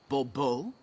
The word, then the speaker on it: Bourbeau: The emphasis falls on the last syllable. Bourbeau?